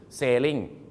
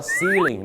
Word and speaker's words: ceiling: พื้น floor กำแพง Wall เพดาน คือ saling แน่ ไม่ ใช่ นะ ครับ saling เี่ นะ ครับ แปล ว่า การ ล่อง เรือ ไป นะ ฮะ เหมือน เช่น เรือ ใบ เ นะ ครับ ต้อง เรียก ว่า seing นะ ครับ ผม วิธี การ